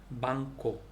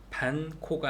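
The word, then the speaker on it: banco: 예를 들어서 BAN, CO, N 뒤에 C가 붙었네요. 그러면 방코, 그냥 반코가 아니라 방코 이렇게 되는 거죠.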